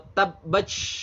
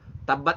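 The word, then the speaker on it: تبت: Tapi nggak boleh dibaca tabbat atau tabbach. Nah, itu salah ya. Salah besar kalau hamas dianggap seperti TS atau CH. Tabbat itu ya TH aja. Kalau diistilahin dengan bahasa kita gitu, TH aja.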